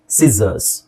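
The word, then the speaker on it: scissors: ಈ ತರ ಉಚ್ಚಾರಣೆ ಮಾಡಬೇಕು ಸಿಸರ್ಸ್ ಸಿಸರ್ಸ್ okay double S ಇದೆ ಸ ಅಂತ ಹೇಳುವಾಗಿಲ್ಲ ಎರಡು ಹೆಸರನ್ನು ಸೇರಿಸಿ ನಾವು zಡ ಅಂತ ಹೇಳಬೇಕು ಈ ಓ ನ ನಾವು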